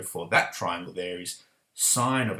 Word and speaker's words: sine: right and so was sine so what i'm going to do i'm going to write sine remember we only write it as sin short abbreviation but we pronounce it as sine so sine in brackets